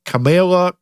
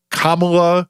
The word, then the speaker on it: Kamala: Never mind if you have one of those names that no one knows how to pronounce. Like, god forbid Cabala Camela Kamala, I got it.